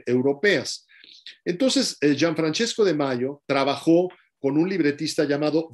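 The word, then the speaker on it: Majo: napolitano llamado gianfrancesco de mayo se escribe de mayo de mayo en mayo es una y es ahí es una y larga que casi no existen ya en italiano gian francesco de mayo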